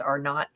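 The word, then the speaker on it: R0: So what is the, RO, I think it's pronounced R not, but what is the reproduction rate?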